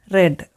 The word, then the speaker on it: read: in simple past tense read is spelled the same in both its past and present forms its pronunciation differs depending on the tense in the simple past form read is pronounced as read so last night she